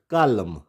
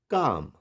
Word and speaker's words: calm: जैसे CALM, इट्स नॉट कालम, इट्स काम, काम, CALM, काम। वाई, बिकॉज एल से पहले क्या है, ए, और ए क्या है, वावल।